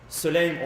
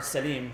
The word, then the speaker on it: Sulaym: many of the ahadith, Sulaym or Salim, two different pronunciations, taken from Salman al-Muhammadi.